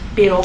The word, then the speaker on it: Biddle: bank did they keep his last name rhymes with fiddle it all right i like that name biddle it's kind of cute